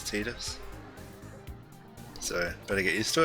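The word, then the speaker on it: Tidus: yeah let's see but that is the correct way to pronounce his name is teeters so better get used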